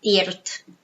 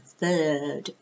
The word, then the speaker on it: third: It's not thirt. No. Third. It's like a long sound. Third.